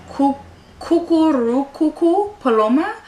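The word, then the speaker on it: Cucurrucucú paloma: also I really really like the song it's pronounced coo coo coo coo coo paloma um and that's the song that's played in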